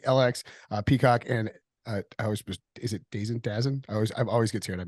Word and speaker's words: DAZN: Also broadcast partners with NBC, LX, Peacock, and is it Dazen? I always get scared. I mispronounce it. Oh yeah. It's DAZN. How about that? DAZN.